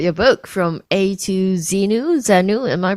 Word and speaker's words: Xenu: Can you tell us about your book, From A to Xenu? Am I pronouncing it right?